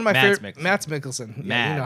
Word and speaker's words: Mads Mikkelsen: The Hunt with Matt Mikkelsen. Like, it was one of my Mads favorite. Mikkelsen. Mads Mikkelsen.